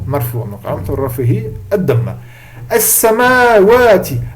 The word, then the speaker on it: السماوات: As-samawati. Alors le alif, généralement, on ne l'écrit pas, par contre, il est obligé d'être prononcé.